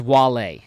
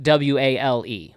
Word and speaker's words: Wale: Now this one's tough because the rapper's name is Wale, Yeah. but it's spelled W-A-L-E, Wale.